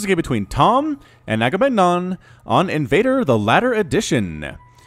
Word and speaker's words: Agamenon: It's not Agamemnon, it is Agamenon.